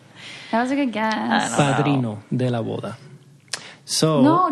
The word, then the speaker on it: padrino: Padrino. P-A-R-I-D-N-O. P? Is that how you spell it? P-A-D-R-I-N-O. Yeah. Padrino. In English, if Americans would say padrino, but padrino.